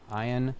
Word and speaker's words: Ian: let's just get that out of the way because, you know, it's Ian, not Ian.